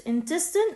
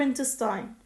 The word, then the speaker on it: intestine: This word has two pronunciations. I can call it intestine or intestine.